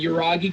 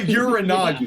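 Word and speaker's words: Uranage: So hey, Michael Cole called it Uranagi, so my pronunciation is correct. Fuck you. No, Michael Cole's pronunciation is correct. You are still wrong. It is still a Uranagi.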